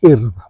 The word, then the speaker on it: Urdd: Um, but I was also entered by the school into regional competitions with an organisation known as the IRD. That's spelled URDD, Welsh for Youth Movement.